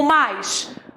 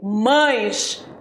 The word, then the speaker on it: mas: e olha lá o mais você prestou atenção na minha pronúncia eu não falei mães eu falei mais não existe mães existe mais devo pronunciar mais para